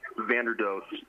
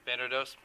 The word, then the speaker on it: Vanderdoes: pronounce your name so we have the correct pronunciation your last name Vander do Vander do thank you very much I think we're all